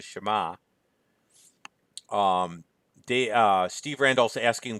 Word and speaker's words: Shema: immediately run to this he called it the Shema which by the way is terrible pronunciation it's the Shema the Steve Rand also